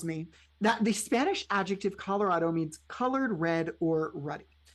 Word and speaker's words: Colorado: that the Spanish adjective Colorado means colored red or ruddy. Because it is a Spanish word, one would think it would be pronounced Colorado.